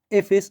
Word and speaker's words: Heffes: a ver profesionales efes lo podemos encontrar con do F también en instagram no sí sí estoy en instagram como efes diabetólogo todo junto con h y DF si escriben apellido por